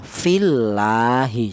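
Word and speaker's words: فِي اللّٰهِ: Ini cara bacanya tarkik tipis ya. Fillahi seperti itu. Tidak boleh dibaca tebal. Fillahi tidak boleh. Karena apa? Karena lafal Allah ini dial huruf yang berharakat kasrah dibaca tarkik atau tipis. secara bacanya fillahi.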